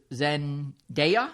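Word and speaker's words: Zendaya: don't even know if I know how to pronounce their names uh this is Zen DEA yes good and Hunter schaer Hunter schaer okay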